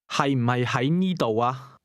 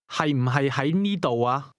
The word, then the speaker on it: 係: That question contained both the words to be, pronounced with a low-level tone, and to be located, pronounced with a mid-rising tone. Ask again, is it located here? 係唔係喺呢度啊？